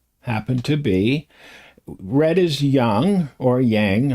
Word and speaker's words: yang: I'll probably say yang because that's what I've said most of my life till I was corrected. No, it's not yang. You know, does not rhyme with wang.